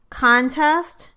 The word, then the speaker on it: contest: In all of these words, the word is a noun when the stress is on the first syllable, and a verb when the stress is on the second syllable. Listen. Contest versus contest.